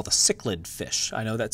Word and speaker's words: cichlid: famous example this are what we call the cichlid fish I know that says chiclet but it's pronounced cichlid these are found in Africa and South America